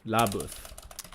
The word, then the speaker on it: LaBeouf: How do you say his name? Buff? LaBeouf.